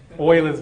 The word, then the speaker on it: Euler: just said what about Euler's method okay so what Leo's method is get his give up Oilers method if you like if you want to pronounce it properly well he was German right so it's well he's